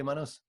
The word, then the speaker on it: Manos: Yeah, say it correctly, Manos? Yes, you pronounced it correctly.